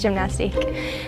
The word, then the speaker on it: Gymnastike: And like 3 out of 5 said gymnastique. And I was like, fine, it's gymnastique.